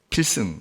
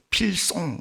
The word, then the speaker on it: 필승: 뭐라 그러냐면 필승 하면 돼. 필승. 나중엔 그게 필승이 이상하게 발음 이상하게 돼서 필송 뭐 이렇게 이상한 발음부터 나옵니다. 필송 하면서.